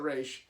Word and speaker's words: Ra's al Ghul: Google Ra's al Ghul depends on depends on what incarnation on how you pronounce it I think they said it was a race but I might be mistaken but the creator said race I'm gonna read it